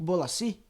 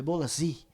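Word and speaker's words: Bolasie: I Nick Bolaci, não é assim? Para falar do nosso querido Bruno Furtado, que inclusive verificou a pronúncia até com pessoas que falam o francês, né? Então o Bruno Furtado aí falou: "É Bolazi". e Nick Bolazi.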